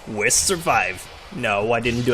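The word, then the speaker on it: Weiß: Number 7, West Survive. No, I didn't do a typo. That's a German B, and it converts to a double S when you pronounce it.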